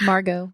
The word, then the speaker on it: Margot: You said Margaret? It's Margot. Margot. Margot. The T is Oh silent.